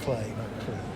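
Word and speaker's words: Klee: poor clay but it's it's spelled k l e e okay yeah but it's pronounced clay yeah said so um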